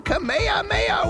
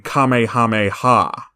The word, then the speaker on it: Kamehameha: they all survive this Grace yourselves for the kameha Maya wave mispronouncing Kamehameha also saying Kamehameha wave is redundant the ha